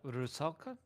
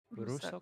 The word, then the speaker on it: Rusalka: I'm doubt I'm get pronouncing it right, but Rusalka? Rusalka? Rusoka.